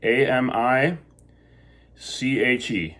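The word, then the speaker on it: amiche: le I mean Kay and to get the hard C there to keep that hard C a mi CH e right lay I'm UK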